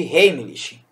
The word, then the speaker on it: Heimlich: manobra de heimlich né chamado de rei lich a pronúncia é essa deve ser rede é